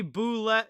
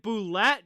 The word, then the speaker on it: Boulet: lightning and alex barre boulet is it boulette generally you would say boule if it's french but i don't know how he pronounces it as that one gets